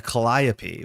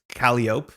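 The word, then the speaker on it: Calliope: Uh, that is called a colliopy, which is another Greek word with that ending e, uh, the Greek muse. But a lot of people like pronounce this as calop because that's how you'd read it.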